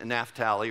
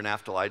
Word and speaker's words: Naphtali: tribes of dan and naphtali or naftali depending how you want to pronounce it two of reuben's descendants